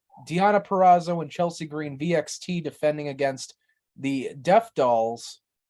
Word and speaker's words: VXT: I think I've heard Deonna and Chelsea say VXT. I think it's supposed to be pronounced Vexed. Hmm. Yeah, I think it's supposed to be Vexed.